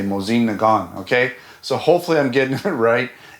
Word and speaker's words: Mosin Nagant: Mosine Nagon. You don't say the T and you say Mosine Nagon.